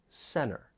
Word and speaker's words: center: or syllables get removed you don't really hear that t when I say Center wanted interview 20 entertain